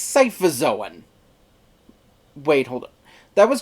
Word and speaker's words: Scyphozoan: Yes, apparently this proper scientific name of jellyfish is Scyphozoan. Except apparently that's not how it's pronounced. Apparently it's Scyphozoan.